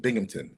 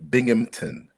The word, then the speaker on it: Binghamton: Now I'm at the University of Binghamton in New York. Pronounce it that again. University of Binghamton.